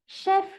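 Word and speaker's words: chef: Sound तो एस एच का है, लेकिन यहाँ पर लिखते टाइम मैंने सी एच यूज किया है। स्पेलिंग बिल्कुल सही है, आप इसे बिल्कुल सही रीड कर रहे हैं, इसका प्रोनाउंसिएशन शेफ ही होगा।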